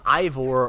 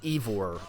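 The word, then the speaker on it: Eivor: play as a character named uh ivor or evor it's they they pronounce it kind of different ways but it's e-i-v-o-r and that's both male and female it doesn't matter there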